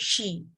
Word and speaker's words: she: Nah, but this one itu harus dibaca sebagai she. She dengan si itu different. Kalau yang ini kamu bilang she itu berarti adalah kata ganti perempuan. And then when you pronounce it as si itu artinya adalah melihat, or this one. So different consonant will create different meaning.